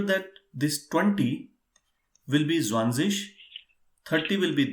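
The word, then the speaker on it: zwanzig: just make sure that this 20 will be zwanzis 30 will be drivish 40 will be fierce-ish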